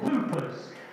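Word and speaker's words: whooper: They come from Iceland and they're called hoopers and that's spelled wh h o p e r.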